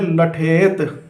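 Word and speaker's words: لٹھیت: तो इसकी आप हिज्जे करिए, लाम ठे ये ते, तो ये हो गया लठेत, ठीक है।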